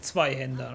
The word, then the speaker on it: Zweihänder: It's Zweihänder, right?